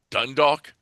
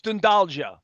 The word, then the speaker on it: Dundalk: And then we cruised to the west coast, and there it is, Dundalk, Ireland. Although my son says that's not how you pronounce it in Ireland. It's It's doing Dundalja. something else. It's Dundalja.